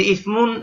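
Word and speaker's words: اسم: তোমার নাম কি যে ইসমুন এই এই আলিফটা এখানে লেখায় আসবে উচ্চারণে আসবে না এই ইমরাতুনের মত যে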